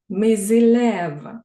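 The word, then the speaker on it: mes élèves: що з означеним артиклем якщо слово буде починатися з голосної то ми буде читатися миз мизилев мої учні тизилев твої учні сизилев його учні далі В нас є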